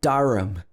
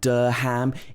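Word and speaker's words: Durham: at the end but it's not pronounced ham it's um by the way the reason why it's pronounced like this is because this is an unstressed syllable if this word was stressed we would say ham but because it's unstressed it becomes um the a turns into the schwa sound so this one is pronounced darum so it's not der ham it's and there's a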